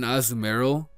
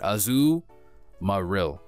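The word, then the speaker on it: Azumarill: All right, I've yet to receive an Azumerill. Nobody ever pronounce it like that. That's not the way you pronounce it. Azu Maril.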